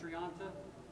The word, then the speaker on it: Thrianta: to pronounce that now I hope it's Triant and you are getting better at it I still hear this Tri and tri and all this other stuff once in a while but it is a Triant and if you're going